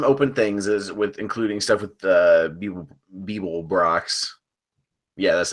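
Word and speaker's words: Beeblebrox: they have some open things including stuff with Beeble Brox.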